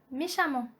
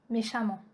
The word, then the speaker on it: méchamment: Note E-M-M-E-N-T et A-M-M-E-N-T se prononcent amant. Donc avec A-M-A-N-T. Ça c'est la prononciation. On prononce E-M-M-E-N-T et A-M-M-E-N-T comme amant. Par exemple, on a dit méchamment, brillamment, violemment, prudemment.